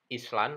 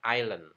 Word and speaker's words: island: yang membaca dengan pengucapan Island atau Islam ini harusnya diperbaiki karena pengucapan yang benar tanpa es hanya dibaca Ilen ilen Ilen ilen bukan